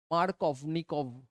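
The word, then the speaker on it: Markovnikov: এম আর মার্কনিকভ rule mark of নিক ভি টা উচ্চারণ হয় না আর কি ঠিক আছে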